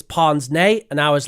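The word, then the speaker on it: pince-nez: said it's something like pin NZ and I found out that's wrong that's wrong because we actually use the French pronunciation for that word so we actually say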